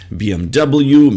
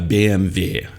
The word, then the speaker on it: BMW: is a BMW so this is a bmwm3 BMW makes fast and cool car Mars also you can tell them that uh in German it's pronounced as B uh BMV yeah not BMW but BMV and uh the